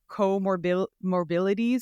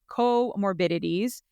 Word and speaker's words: comorbidities: of me and I I always call it coor morili but it's comorbidities so we're going to talk about PCOS comorbidities and bariatric surgery together um and kind of what we mean by comorbidities for those who don't know um comorbidities are